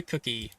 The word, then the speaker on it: Cook: It's Cook. It's Cook. Cook.